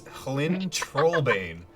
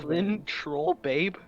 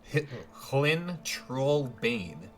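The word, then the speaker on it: Hlin Trollbane: chat, but it's Hlyn Trollbane. Clean troll. Lynn Troll Babe? What? Hlyn Trollbane. Bane. And how do you spell that?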